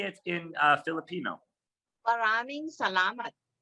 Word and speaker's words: Maraming salamat: Maraming salamat. Parami Salamat.